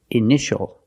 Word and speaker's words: initial: office a patient and this word initial or initials more than one we see TI a together so the t is pronounced sh sh initial initial my initials are